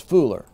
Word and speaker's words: fuller: work of the fooler let's pronounce fuller not fuller it looks like it but it's fooler what's the Fuller's work